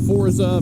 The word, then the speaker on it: Forza: the whole thing of Forza versus fourth side now the way it's pronounced the Sforza with a T sound to it the devs themselves will